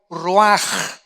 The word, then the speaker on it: ruach: La palabra que se usa aquí, 4 vientos, es la palabra hebrea ruaj, o se escribe ruach, que es como se traduce la palabra espíritu.